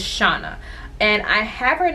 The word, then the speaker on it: Chana: her name is forget the stock card it's pronounced i'll say shauna shana or some people say chana but it's shauna and i have her in the color mermaid